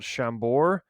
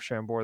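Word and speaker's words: Chambord: the the pronunciation but I think it is called shambor uh with a with a d at the end I believe that's French it's a it's kind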